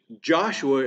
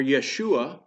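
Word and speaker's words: ישוע: The Hebrew name is Joshua, as we pronounce it, or Yeshua, but it literally means Jehovah is salvation.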